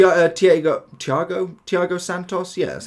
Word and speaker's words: Thiago Santos: if you did complete him T tho Thiago Thiago Santos yeah that's how you pronounce it not a bad card I think